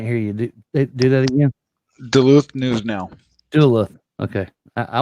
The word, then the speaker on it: Duluth: And if Dolith, I don't even know how to pronounce that, man. It's Duluth News Now. I can't hear you. Do that again. Duluth News Now.